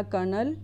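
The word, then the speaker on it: colonel: तो यहां पर डाटा कर्नल कि यहां पर l साइलेंट होता है तो यहां पर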